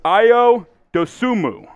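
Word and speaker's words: Ayo Dosunmu: again one more time it's not a ao i or yeah i almost gave it away there oh yo it is io dosumu yes that is how you pronounce his name so you were batting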